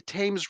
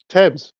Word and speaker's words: Thames: Why do they call it the Thames River, but they spell it like Thames?